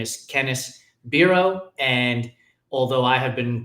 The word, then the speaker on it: Bero: Her name is Kenneth Bureau. And although I have been pronouncing it in my head as Bio because I made her Puerto Rican just like I am.